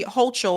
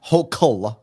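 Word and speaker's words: Hochul: So, Larry, you're running against uh Governor Kathy Hol. I believe you're running as an independent, correct? This is the thing that's interesting. Just Just get mad. Her name is pronounced Hokul.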